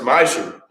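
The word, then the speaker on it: מעשר: Means tenth in the Hebrew and is pronounced ma'asher.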